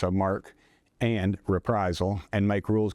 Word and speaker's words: marque: Another bill I'm working on um it's called letters of marquee or it's excuse me letters of mark actually it's pronounced mark spelled marquee it's um it's under article one